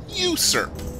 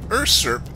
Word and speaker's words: usurp: of a Madman uh how do you pronounce urp I pronounce it usurp it's actually usurp now the reason why I bring this up is because I pronounced it urp in front of my mom because I've been reading and that's how I read it that's how it's oh